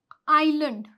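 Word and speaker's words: island: अगर एस के बाद क्या आ रहा है? एल आ रहा है तो फिर एस क्या हो जाएगा आपका? साइलेंट हो जाएगा। जैसे कि आई एस एल ए एन डी यह क्या है? आइलैंड आइलैंड ठीक है तो यहां पर जो एस है हमारा वह साइलेंट हो गया यहां पर आईल आईल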